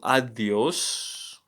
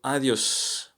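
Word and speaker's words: adiós: isn't it yeah so adios bai sounds the same as in a in comma so here we're looking um at the blue the blue letter a by the way as in father father ah ah it's not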